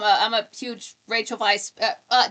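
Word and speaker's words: Weisz: I'm a I'm a huge Rachel Vice. Uh W I S Z. It's pronounced Vice.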